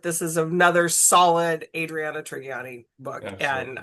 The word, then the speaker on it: Trigiani: is another solid Adriana Trigiani book. And Absolutely. I think it's a hard G.